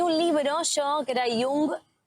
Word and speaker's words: Jung: Tenía un libro yo que era Jung o Young. Bueno, ¿El Young. psicoanalista? Sí. Ah, ok. ¿Cómo se dice? Jung.